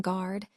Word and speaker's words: guard: The E in cantaloupe, the U in guard, and the E in riddle. These are classic cases of silent vowels, letters that we see